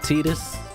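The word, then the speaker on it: Tidus: no problem and Titus some people pronounce it tetus Titus I've been calling Titus for years so me too take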